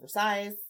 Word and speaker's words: Versailles: He spent a lot of time in the Palace of Versailles. Versailles? I said it right.